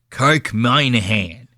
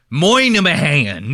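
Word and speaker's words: Minihane: His name is spelled Minnie Hane. And they pronounce it the fucking crazy. They go, my name is Kirk Moynihan. You know what I mean? It's like, dude, spell it like it's fucking, or say it like it's spelled.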